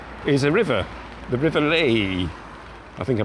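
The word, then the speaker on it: Leie: The river Lei, I think I pronounced that correctly.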